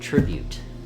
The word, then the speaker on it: Tribute: I said it wrong it is not sting it is called tribute the sword is called tribute tribute that's not better I